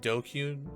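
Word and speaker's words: DQN: ] i get okay what did dq mean pronounced doku he used to refer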